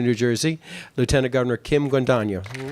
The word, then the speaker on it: Guadagno: Now I'd like to introduce our Lieutenant Governor of the state of New Jersey, Lieutenant Governor Kim Guadagno.